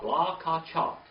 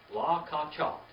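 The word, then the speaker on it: לָקַחַת: La cha ka la ka chat. La ka chat.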